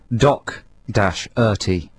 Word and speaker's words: Doherty: Because it says here on our notes with our playlist, pronounced Doc-Erty. Oh, really? You're supposed to do a hard C.